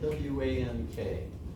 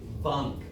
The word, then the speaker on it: Wank: It's spelled W-A-N-K. It's German name, and it would be Wank, you know, W's are like a V, but Wank is the way that I like it to be pronounced.